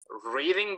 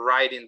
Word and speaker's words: riding: And be careful again with some pronunciation details. For example, he likes reading bikes or riding bikes. Riding. What do you say? Riding Or bikes. riding? Riding bikes.